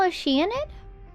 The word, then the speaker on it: Oceanid: Maybe a small Oceanid?